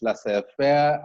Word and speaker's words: laissez-faire: There are some French words that have the Z silent. It's laissez-faire and Rendezvous.